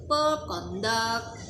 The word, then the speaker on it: conduct: Which mean Somebody's behavior This is the Conduct the stress is on the second syllable now There are many